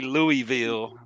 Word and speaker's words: Louisville: No, it's Louisville. Yeah, you got to roll it. Say it with your chest. Sorry. It's like knowledge. Go ahead, Mr. Louisville.